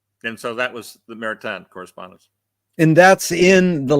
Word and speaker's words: Maritain: Maritain. Maritain.